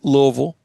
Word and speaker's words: Louisville: sure to practice on Louisville and how to say it. It's like two O's, you know, l and then vul v u lv.